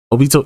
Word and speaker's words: Obito: Obito. Yeah. Yeah. I I I mispronounce names.